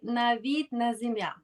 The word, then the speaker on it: Navid Nazemian: So I call it Mastering Executive Transitions, the Coaching Edge by Navid Nazemian, right? Did That's I correct.